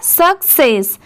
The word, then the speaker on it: success: अब इन दोनों को जब साथ में मिला देंगे तो क्या हो जाएगा सक्सेस, ठीक है, सक्सेस।